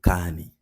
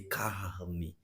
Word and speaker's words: carne: I say carne, carne, carne. I can't, in some way, I just can't pronounce the R in the middle of this word. And Brazilians actually pronounce this word, Brazilians from the south of Brazil pronounce this word as carne, carne. The R is very visible.